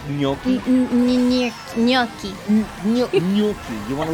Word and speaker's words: gnocchi: Thoughts on gnocchi?